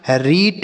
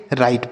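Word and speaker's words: right: इसे हम रीट या रीघट इस तरीके से कुछ भी नहीं पढ़ेंगे। राइट पढ़ेंगे।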